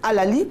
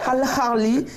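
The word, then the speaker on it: Al Ahly: bien sûr, et puis Al-Ahli. Voilà, Al-Ahli d'Égypte. Voilà, moi j'aurais dit Al-Ali, mais c'est Al-Ahli d'Égypte.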